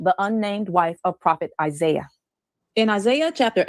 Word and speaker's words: Isaiah: The funny thing about the name Isaiah is many people don't know that the true Hebrew pronunciation of Isaiah is Yeshayah or Yeshayahu.